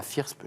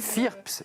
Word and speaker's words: FIRPS: groupe Oasis, et puis la FIRSP, je l'ai mal dit, la Fédération des intervenants en risques psychosociaux, le 24 janvier prochain. Et téléchargeable gratuitement, c'est très accessible. FIRPS, et vous entraînerez à prononcer cet acronyme.